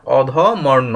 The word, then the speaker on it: অধমর্ণ: অধম্য উত্তম হ্যাঁ আচ্ছা র টা কিন্তু উচ্চারণ করতে হবে হ্যাঁ তারপর তারপর হচ্ছে